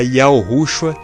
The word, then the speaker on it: Yahushua: A pronúncia Yahushua seria a forma em que Jesus era chamado no idioma aramaico, o idioma que Jesus falou quando esteve na terra.